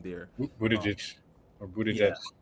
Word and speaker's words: Buttigieg: I can't pronounce his last name there. Um, Buttigieg or yeah, Buttigieg.